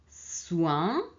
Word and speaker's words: soin: Soin. Moins. Lointain. Loin et lointain, c'est lontano. Et soin, una cura. Et moins, meno. Ok? Donc ici, O-I-N, on prononce ouin et non win.